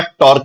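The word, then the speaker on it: τ: vector पता है तो टॉर्क टॉर्क इ वेक्टर क्वांटिटी जिसको सिंबल से डिनोट करते हैं this symbol is pronounced as टा ठीक है ये टा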